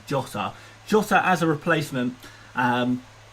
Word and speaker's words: Jota: about moving him on hotter or so i should say jotter because the portuguese pronunciation is jota jose as a replacement